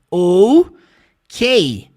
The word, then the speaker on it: OK: e o k e como é que você pronuncia essas letras no inglês oou k é por isso que